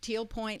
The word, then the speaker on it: Tealpointe: point lake dot-com and it's spelled te ALP o int e lake com teal point lake dot-com te ALP o I and te lake dot-com they put that e in there right yes everything you need